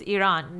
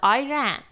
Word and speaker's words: Iran: Yeah, and I want to use also this opportunity to say the correct way to pronounce Iran is Iran, not Iran, because Iran means I ran away.